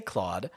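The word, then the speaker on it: Kludd: i saw that but they never say club they say claude they say well it's k-l-u-d-d yeah i saw that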